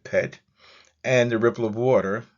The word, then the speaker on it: pt: Below Uia is a sacred symbol for sky, which is a biliteral, PT, and we will pronounce that pet.